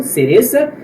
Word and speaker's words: cereza: Na Espanha, galera, o C, no caso, la C, é pronunciado com a língua no meio dos dentes. Por exemplo, la C, cereza. Então, nos países latinos é pronunciado de forma comum, cereza, e na Espanha com a língua entre os dentes, cereza.